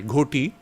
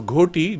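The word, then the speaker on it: ghoti: g h o t goti he said should be pronounced fish so arbitrarily you see there's no relation between the sound fish with goti and yet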